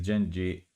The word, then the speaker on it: Genji: It's because if you read this in Italian, in the Italian pronunciation, it could be Jen. It would be Genji.